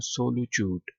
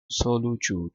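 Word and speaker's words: solitude: इसको आपने जो आई है ना इसको आपने ओ पढ़ना है जब प्रोनाउंस करना है तो आपने पढ़ना है सोलचट्यूड सोलच्यूट ठीक है आइसोलेशन लोनलीनेस तन्हाई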